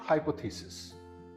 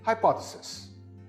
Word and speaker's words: hypothesis: This word is not hypothesis. It is pronounced hypotheses. Again, this word is hypothesis.